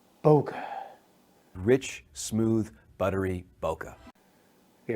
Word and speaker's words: bokeh: do you speak it so Boca is what it was now you hear all kinds of people saying bouquet bouquet and everything else sweet sweet bokeh